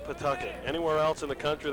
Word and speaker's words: Pawtucket: if you go back to new england it's pronounced pawtucket anywhere else in the country they call it pawtucket and the people from that city in rhode